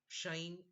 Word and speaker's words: sinh: By the way, how does the American mathematicians pronounce this? sinh x, like pinch, chinch.